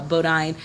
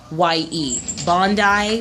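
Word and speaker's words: Bondye: I named is uh Bodine again I'm butchering that but b-o-n-d-y-e Bondi possibly is how you pronounce that uh they worship what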